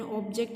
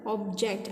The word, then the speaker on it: object: Let's take this word object. Object can be both noun. If it is noun, then object will have, like bring me that object, then it is a noun. So it will be on the first syllable. If it is a verb, object, I object, in that case stress will be on the second syllable.